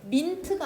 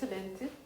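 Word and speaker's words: meant: 이것은 민트가 아니라 멘트라고 읽어. 멘트.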